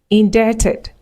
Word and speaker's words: indebted: So our final list of words, we have debt, indebted, subtle, debtor, doubt. So you do not pronounce the B in between. Do not say debt or indebted or subtle. No. You pronounce it without the B.